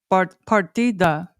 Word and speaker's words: Isla Partida: one of them, Isla Partida. Partita, see. But D is pronounced a little different.